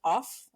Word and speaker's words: OFFF: Yeah, I was recently at a design conference called OFFF with 3 Fs. I always try to, for some reason, pronounce the extra F. Like it's supposed to off.